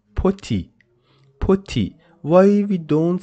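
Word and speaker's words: petit: we don't pronounce it put it because as I told you whenever we have the letter T at the end of a word it is not pronounced like the at the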